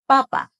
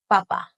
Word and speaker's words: papa: For potato, you want to keep the sounds in both syllables exactly the same and say them quick. Papa, papa.